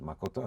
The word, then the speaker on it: makoto: It is pronounced as makoto, and it means the truth.